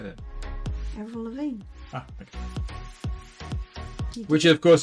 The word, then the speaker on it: Avril Lavigne: Avril Lavigne.